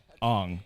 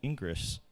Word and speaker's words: Ingres: that I realized that the French don't spell things the same way they say them on it's spelled i n g re s which I would look at that and be like Oh Ingress ingr right but it's on so anyway there you